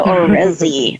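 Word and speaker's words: Orezzy: me introduce paula orsin is your last name paula already or rezzy i want to make sure i'm pronouncing correctly paula or rezzy oh that has such a beautiful ring and sound or rezzy i love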